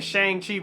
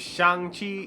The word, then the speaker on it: Shang-Chi: main character which is i'm saying shane chief but his name is shang chi is how he pronounced it in the movie so they gave a